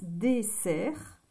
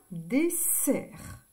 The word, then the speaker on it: dessert: e r et t on n'entend pas le T alors vous avez vu ici dessert si vous ne mettez qu'un seul s si on ne met qu'un seul s regardez ça ça fait désert le désert et le dessert désert dessert son super